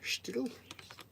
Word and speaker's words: Stihl: Bit of Stihl there, Stihl. Stihl, that's how you actually, they say it like that up at Stihl in Auckland.